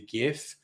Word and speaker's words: GIF: the first word yeah the first word in the acronym of GIF stands for graphical graphical it is a hard G so bugger off it is not if it is GIF and you can go